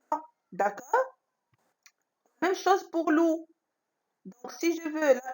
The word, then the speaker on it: loup: Je ne la prononce pas. D'accord? Même chose pour loup.